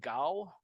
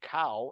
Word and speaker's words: Kao: just telling Barbara this if you really pronounce my name my name is GAO like I mentioned earlier but when my first day at school um the teacher called uh attendance and she said cow and I didn't know